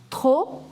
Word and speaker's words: trop: Car, il, ni, together, ni, fait pas trop chaud. Trop chaud. P being the last consonant, you will not pronounce trop chaud.